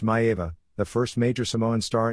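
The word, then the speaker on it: Maiava: Daddy Lipscomb, Sammartino Carpentier, Haystacks Calhoun Neff Maeva, pronounced Maeva, the first major Samoan star in U.S.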